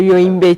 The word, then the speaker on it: yohimbe: La plante, comme vous voyez, c'est Posilistalia yoimbe. difficile à prononcer. Oui, voyez, je fais des Posinistalia, yoimbe. Le yoimbe, tout simplement. Moi, j'allais dire Jorimbe.